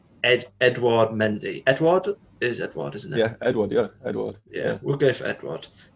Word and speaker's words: Edouard: We'll go for, I always get his first name wrong, Edouard Mendy. Edouard, isn't it?